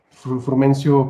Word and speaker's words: Frumencio: Pues bueno, sin más preámbulo, nos acompaña el licenciado Frumencio. ¿Me pronuncié bien tu nombre, Correcto. Frumencio?